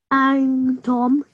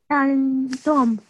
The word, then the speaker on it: أنتم: أنتم. Tum. أنتم. Okay, so you hide the noon because there is a ta after that, okay?